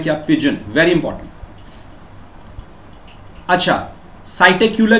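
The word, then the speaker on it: Psittacula: अच्छा साइटक्यूला की बात कर रहे हैं। पी साइलेंट के फॉर्म में कर देंगे और साइटकुला बोल रहे हैं इसको।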